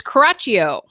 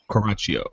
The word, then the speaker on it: Coraccio: Now, Julie, how do we pronounce your last name? It's Caraccio. Caraccio. Caraccio. Caraccio.